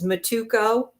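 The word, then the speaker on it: Mitoku: It's Matukco.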